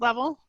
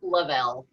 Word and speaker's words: Lavelle: Is that how it's pronounced, Level? It's Lavelle.